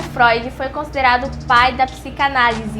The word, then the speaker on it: Freud: em fre não gente não é fre o nome dele é Freud porque se escreve FR mas o nome dele se diz se pronuncia Freud Ok essa é uma